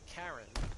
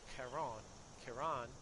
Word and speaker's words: Charon: And I believe the ferryman's name is it's spelled Charon, and some people pronounce it Karen, but it's actually Charon, or something like that.